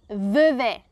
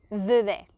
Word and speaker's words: Vevey: Okay, so it's interesting that the Swiss German speaking people, we pronounce the cities from the French speaking part just like the French speaking people. So I would say Vevey, Vevey. Okay, Vevey, Vevey.